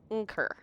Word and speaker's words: Unker: Unker. There you've got 2 syllables in the Unker. You've got your velar nasal and your rhotic approximate.